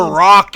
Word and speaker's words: roc: So, do they look like a bird or they I It's It's a rock. It's spelled R Oc.